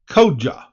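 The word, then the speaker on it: Koca: known as Koka YF Koka is pronounced like oh I'm sorry I've been saying it wrong should put the pronunciation first kja and they can have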